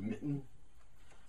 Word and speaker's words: Mitten: uh Ian Edgington and the artist is Christopher mitten that's how you pronounce that um this story I've been collecting